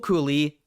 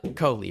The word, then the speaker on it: Coley: Like, can I just say, Rahul Cooley, not Cooley, I fucked that up. Coley, right? It's Coley. I could be wrong, but I'm pretty sure it's Coley.